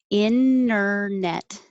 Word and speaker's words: internet: sled sled and internet this was an example of um the t disappearing as well inner net the n the t